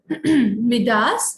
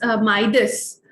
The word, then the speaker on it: Midas: ठीक है, ओके, ये ना बैकस है, इट is pronounced as Bacchus, okay. मिडास, माइडस and Bacchus, ठीक है, ये इंडियन प्रोनाउंसिएशंस नहीं है, माइडस एंड बैकस, ओके।